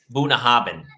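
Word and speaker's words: Bunnahabhain: favorite scotch of all bunahaben that's how you pronounce it that's like that's like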